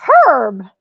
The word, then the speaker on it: herb: instead of herb it's herb it's herb the H is silent unless you're talking to